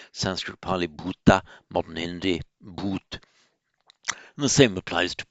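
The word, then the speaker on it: भूत: For example, in modern Hindi, um, bhoot, that's how it's pronounced in modern Hindi, with in the modern languages of northern India, the ones derived from Vedic and the Prakrits, they tend to lose the final ah.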